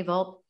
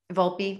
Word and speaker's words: Volpe: volpe is that how you say it anthony vault volpe volpe love love that even more than volt moved